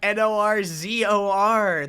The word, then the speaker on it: norzor: norzor decided to invent norzor oh my gosh it's like n-o-r-z-o-r that's how you say it guys yeah no it's in